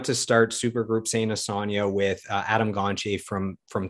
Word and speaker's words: Asonia: you on one thing it's pronounced a sonia sonia yeah just just so